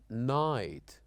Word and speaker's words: night: n and also GH we said that sometimes we write words and letters that we don't pronounce at all like for example here the word or the letters uh GH here we say right light night and also letters that are silenced like the letter K when it followed by